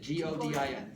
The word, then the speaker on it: Godin: But here's Godin, G-O-D-I-N. Spell it. G-O-D-I-N. If you were French, it would be Godin.